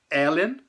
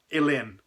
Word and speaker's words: Elen: Mas então reparem que é Helen e não Elen, né? O acento tá o acento tônico, a sílaba tônica tá na primeira sílaba da palavra e não na última.